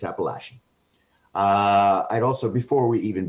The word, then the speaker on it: Appalachian: It was wonderful, David, and I'm so heartened that you got the pronunciation of Appalachian correct. I can't tell you how many times it's not Appalachian, it's Appalachian.